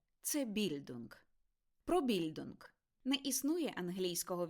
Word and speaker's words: Bildung: Ба більше - це більдунг. Про більдунг. Не існує англійського відповідника слова більдунг, тому доведеться використовувати німецький оригінал. Вимовляйте його більдунг з наголосом на першому складі.